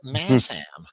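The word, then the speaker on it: Masham: Uh so Ian um correcting my pronunciation there, it's Massam.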